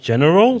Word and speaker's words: Genirol: And welcome, ladies and gentlemen, Genirol. Did I pronounce your pseudo, your rap name correctly? Yes, so it's pronounced general.